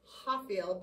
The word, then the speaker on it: Rafael: rafael murato's videos um portuguese names uh will start with an r uh but are pronounced like an h so it says hafiel but it'll look like